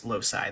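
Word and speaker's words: loci: Loi or sorry Loi I always think loai because I'm like Locus but it's loai that's how you pronounce that so only 20% of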